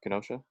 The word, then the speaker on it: Kenosha: by kenosha right that's how you say it kenosha oh no not from wisconsin well kenosha wisconsin